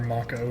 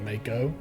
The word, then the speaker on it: Mako: game, we called it Mako. I'm next. and I had because definitely watched Advent Children at that point. Because Mako sharks are real and they are pronounced like Mako shark.